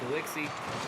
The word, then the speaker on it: Galixi: Okay, I was going to ask you how to pronounce that, but Galixi, kind of like Galaxy, but with no F.